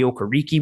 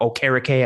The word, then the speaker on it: Okereke: I thought Bobby Okereke would be or Okereke. I forgot he changed the pronunciation, would be a fun piece.